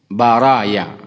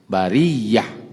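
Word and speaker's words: بريّة: Ada yang mengatakan baraya. Jadi bukan bara membacanya bar bariyah artinya darat atau tanah.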